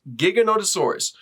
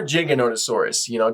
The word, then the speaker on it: Giganotosaurus: Welcome back to the Many Interpretations Of, where this time we are looking at Giganotosaurus, or Giganotosaurus, depending on your pronunciation. I personally don't care, but I call it Giganotosaurus.